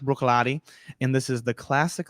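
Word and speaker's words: Bruichladdich: Brook that's correct and it looks nothing like Brook it is um it looks like it's pronounced breuck ladic maybe if you speak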